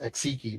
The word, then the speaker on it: Axiki: And then when you say that, Zadel, as you're approaching the hunters, the the leader of the uh Axiki clan, that's pronounced Axiki, by the way.